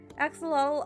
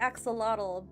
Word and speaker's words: axolotl: Axolotl are adorable. Yeah, you know, in English we say axolotl, but the more correct pronunciation would be axolotl.